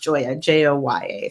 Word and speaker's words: Gioia: that so it's spell Koya but it's actually pronounced Jo a Jo ye think of it that way so I'm excited